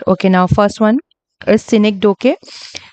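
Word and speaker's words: synecdoche: Okay, now first one is Cynic Doke. Different people pronounces it differently. इसे साइनिक डोचे बोलता है, अलग अलग तरीके से प्रोनाउंसिएशन करते हैं. सो I would pronounce it as scenic डोके.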